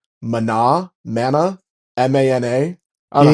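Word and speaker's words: Maná: And there's one band called Mana, Mana, M-A-N-A.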